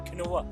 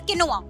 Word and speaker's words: quinoa: The word is QUINOA। Quinoa. The pronunciation is wrong. Quinoa. No, that is wrong. Quinoa. That is wrong. आपने word सही पकड़ा है but pronunciation गलत है। इट्स किनोआ।